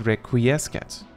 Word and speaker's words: Requiescat: The hardest one to pronounce among these, in my opinion, is Requiescat. I could have sworn I learned somewhere that the C was silent. I guess not.